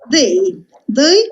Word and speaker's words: they: Poi c'è they, questo suono TH si pronuncia the, mettendo la lingua davanti ai denti superiori.